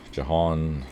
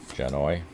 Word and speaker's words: Janoi: Uh, Jon Jan Lindsay, no, I'm saying his first name wrong, was there. So, I got issue number Well, that's issue five. Janoi Janoi Lindsay.